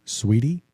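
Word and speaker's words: Saweetie: Like I never listened to Sweetie, which is spelled Saweeti.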